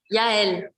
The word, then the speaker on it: Jael: So I have here Jael. How would I pronounce it correctly? Yael.